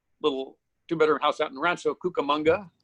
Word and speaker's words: Rancho Cucamonga: 2-bedroom house out in Rancho Cucamonga. Rhymes with Cowabunga.